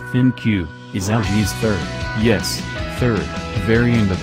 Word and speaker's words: ThinQ: The V35 ThinQ, pronounced ThinQ, is LG's third variant of its V30, in addition to the original V30 phone from 2017 and the V30s ThinQ from February.